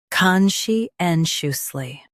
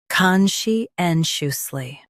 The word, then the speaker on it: conscientiously: conscientiously First, let's hear its American pronunciation. conscientiously Now, read the syllables of US pronunciation shown on the screen naturally. con shi en shus ly conscientiously con shi en shus